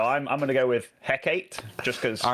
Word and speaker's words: Hecate: Yeah, so according to Google, the map is pronounced Hecate. If you put this name into Google Translate, that is how you're supposed to pronounce it, but it sounds so bad to me. So I'm kind of leaning towards Hecate instead, even though I think it's incorrect.